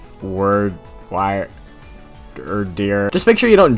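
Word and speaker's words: Wyrdeer: I think it's pronounced Wordeer, Wiredeer, Wiredeer.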